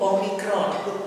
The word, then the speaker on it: omikron: omikron arron ya itu omikron dengan eh transiterasi O seperti pada kata boros boros ya jadi o-nya itu bukan ada dua jenis O ya Ada O ada O ya Misalnya tokoh beda boros tokoh Jadi o-nya bukan o tokoh tapi o-nya ini adalah o boros boros omikron omikron omikron